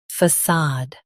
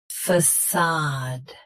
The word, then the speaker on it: facade: Facade. Facade. Stress. Sad. Keep f soft, then open sad clearly.